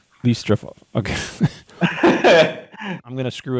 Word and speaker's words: Listratov: Did I pronounce that right? Yeah, Listratov. Listratov.